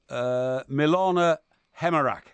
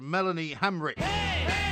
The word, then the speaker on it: Melanie Hamrick: child, we're talking about Milana Hemerack. Incorrect. No! It is Melanie Hamrick.